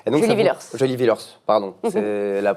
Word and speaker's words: Julie Villers: Vous jouez dans Dommage avec Céline Groussard et Julie Villiers. Et donc, Julie Villers, pardon. La prononciation se fait mal.